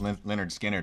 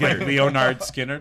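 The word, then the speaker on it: Lynyrd Skynyrd: It's like no one knew how to pronounce Leonard Skinner when they first came out either.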